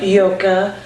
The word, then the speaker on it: Joke: He came here with Yoka, and I don't know how to say her last name, and her name is spelled Joke, and I'm like, I got the Yoka, I got that part right.